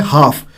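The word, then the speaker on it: half: है ऐसे ही बोलेंगे हाफ जो एल है वो साइलेंट है एल जो साउंड है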